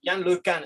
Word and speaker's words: LeCun: E, por exemplo, tem um cara que se chama Yann LeCun, se diz em francês, se escreve LeCun, que é um engenheiro